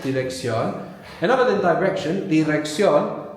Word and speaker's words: dirección: The I is always pronounced like E, like in ink. Dirección.